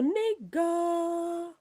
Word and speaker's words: Nika: A big shout out to Nika. But the K is pronounced as a G. A big shout out to Nigga.